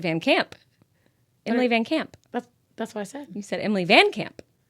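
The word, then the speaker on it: VanCamp: Emily Van Camp. Is that her name? Yeah. Yeah. Van Camp. Van Camp. I might have said Van Camp.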